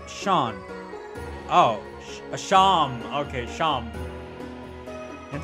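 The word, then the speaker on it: Seam: better to do about yourself the name sim pronounced Sean ohh Sean okay Sean and this is my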